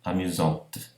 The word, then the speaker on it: amusante: Mas, quando ponho a, o E na grafia que marca o feminino, então a consoante que precede passa a ser pronunciada. Então aqui nós temos ver, verte, amusant, amusante.